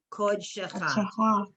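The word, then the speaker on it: קדשך: Okay, so the word kodsho is Shabbat, and that's a stop there at the end of the syllable kod, and then the beginning of the shin is shecha, kod shecha.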